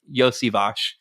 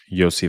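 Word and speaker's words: Iosivas: And he's right because I've seen videos of Andre saying how to pronounce his name. It's Yosivash. So Yosivash.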